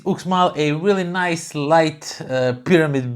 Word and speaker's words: Uxmal: them be book smart it's pronounced look small and so yeah that is look small a really nice light